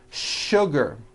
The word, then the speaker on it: sugar: that there are some words in English that are written with the letter s but are pronounced with the sh sound words like sugar and sure and to